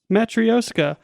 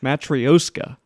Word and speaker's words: matryoshka: I don't know how to pronounce. Matryoshka. Matryoshka.